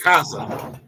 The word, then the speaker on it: Mikasa: No, how do you say this? Wait, can I say this? Mikasa. I did say it right. Oh, I said it right.